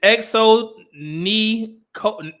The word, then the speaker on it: Xonecole: Her name is XO Nicole. It's spelled XONECOLE.